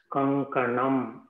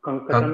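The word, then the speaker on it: कङ्कणम्: So that's how you pronounce this letter. Kankatam. Kankatam. Kankanam. Kankanam is kankanam.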